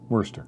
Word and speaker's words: Worcester: God help us if Kathy never tries Worcester. Worcester? Yeah, Mm-hmm. like the sauce.